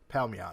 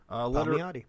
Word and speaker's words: Palmiotti: You said Palmiotti? Palmiotti. That's how Jimmy Palmiotti. That's it. Palmiotti.